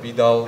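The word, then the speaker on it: PDAL: on the library called poodle or Bal depends how you want to pronounce it uh it's something similar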